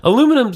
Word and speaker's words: aluminum: we are not true we kind of slur the back end the back end of it get slur aluminum foil